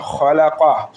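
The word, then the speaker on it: خَلَقَ: আল্লাযী খলাকা, খ জবর খ, লামজুল্লাহ খলা, কফ জবর ক, খলাকা। খটা আমরা হলকের শেষ ভাগ মানে মুখের পাশের গলার অংশ থেকে উচ্চারণ করবো, অপ এই জায়গায় দিয়ে উচ্চারণ হয়।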